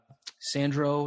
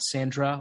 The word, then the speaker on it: Sandro: My social media is at Sandro, not Sandra, or at Sandro, not Sandra, depending on how you pronounce things.